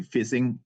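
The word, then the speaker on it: phishing: it's quite funny actually fishing the the way you pronounce this is like you fishing actually so it's uh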